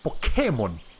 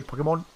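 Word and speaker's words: Pokémon: yeah i'm pretty sure in japanese they say pokemon or pokemon pokemon yes as they say it sounds like that they don't accentuate this part ah yeah yay the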